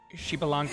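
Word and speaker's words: Xbalanque: Okay, in Smite, it's pronounced Shibalanke.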